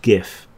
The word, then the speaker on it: GIF: It's pronounced GIF for the next non-controversial question.